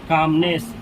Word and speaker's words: calmness: इसमें एल का प्रोनाउंसिएशन नहीं किया जाता है, इसको पढ़ा जाता है कामनेस।